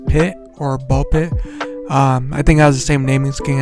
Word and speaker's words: Ball x Pit: The game is called Ball X Pit or Ball Pit. Um I think it has the same naming scheme as like Hunter Hunter. You're not supposed to pronounce the X in the middle, but I digress.